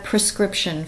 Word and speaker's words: prescription: It's prescription. It's when you go to get a prescription filled. It's a P-R-E, prescription.